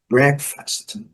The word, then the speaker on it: breakfast: Então a primeira sílaba é a sílaba forte, breakfast. A letra A não é pronunciada e o E com o som do nosso E do português.